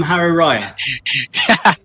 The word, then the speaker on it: Hari Raya: Salam Hari Raya. Is that All right? right. Yes, that's exactly right. You pronounce it perfectly.